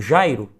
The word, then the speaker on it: Jairo: Se eu pego o meu nome, por exemplo, Jairo, e eu prolongo, eu chamo esse nome, Jairo. Note que o Jai é a sílaba que mais se destaca. Jai é a sílaba tônica do meu nome.